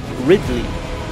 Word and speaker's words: Ridley: Ridley.